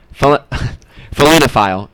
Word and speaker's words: felinophile: I guess maybe the better pronunciation is felinophile, but that's kind of weird to say.